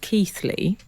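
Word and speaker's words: Keighley: Dak in I think I believe this is pronounced keithly oh yes uh hi Frank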